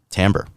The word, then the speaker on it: timbre: of it that has its own sort of timbre, has its own shade.